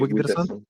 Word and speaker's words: Wigderson: Wigderson, está raro su pronunciación, pero es sí, Wigderson.